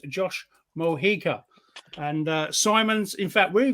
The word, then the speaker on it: Mojica: Let me teach everybody how to say my name phonetically. Yeah. It is Josh Mojica. Mojica. Right. Okay. That's it. I couldn't read my own. So it's Josh Mojica.